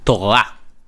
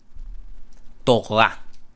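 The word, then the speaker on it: תורה: Torah, Torah. Instead of Torah, Torah. The R is you don't actually hear it, okay? Torah.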